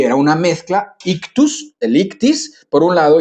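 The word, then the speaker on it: ἰχθύς: Que es con todas estas palabritas y con estas letras que hemos hablado, y se pronuncia como ictis, ¿no?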